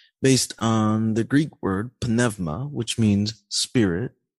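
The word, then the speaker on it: πνεύμα: on the Greek word panevma which means Spirit now you may hear others pronounce that like Numa or panuma or something like that but uh the proper pronunciation panevma and in the dative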